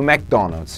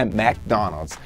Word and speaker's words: McDonald's: E a pronúncia de McDonald's é isso aí, né? McDonald's. Não vai me falar Mac, MC Donald's, McDonald's, McDonald's, ok? Não vai falar isso lá fora.